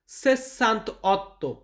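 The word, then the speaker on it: sessantotto: 68 এটাকে আমরা বলব সেসান্ত অত সেশান্ত অতটা সান্তা সান্ত অত দেখবেন একের ক্ষেত্রে আর আটের ক্ষেত্রে ওই আ উচ্চারণটা আসে না যাই হোক এখানে আছে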